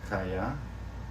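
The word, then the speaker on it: חיה: Chaya, okay, chaya, or chayot would be plural. Sounds like a coyote, kind of, right?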